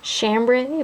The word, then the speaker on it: Chambre: we have chambre chic who's actually pronounced chambray but I think it sounds better chambre and we've names adult